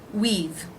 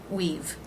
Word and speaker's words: we've: been waiting we have we've the W consonant sound the EE as in she vowel and the V consonant it's pronounced just like this word we've we've we've been waiting